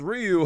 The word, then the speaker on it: Ryu: Oh, but it's pronounced Ryu.